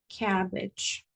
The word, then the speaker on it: cabbage: Entonces, esa es eh es como pongo la boca como e, pero digo a a cabbage o cat, ¿verdad?